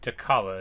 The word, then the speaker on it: Dechala: Alright, Dechala is how we say her name.